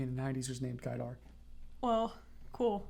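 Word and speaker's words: Gaidar: the 90s was named guy dark well cool which if you pronounce the English way it said gaydar he just destroyed the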